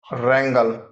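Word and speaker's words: wrangle: बेयरली Audible rack नाफ करना variation of rack रेंगल झगड़ना रेंगल झगड़ना writ कानूनी आदेश रिट कानूनी आदेश रो क्रोधित रो क्रोधित साइलेंट एक्सवर्ड फ नकली या फिर बनावटी फ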